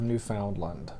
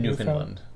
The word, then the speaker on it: Newfoundland: from the island of newfoundland wait how do they see it newfoundland no we say newfoundland americans say newfoundland but i don't think that's how canadians say it well anyway it doesn't